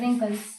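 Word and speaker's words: wrinkles: रिंकल्स। रिंकल्स जो पढ़ते हैं इसमें क्या है? डब्लू इसमें साइलेंट होता है तो उसमें छोटा आर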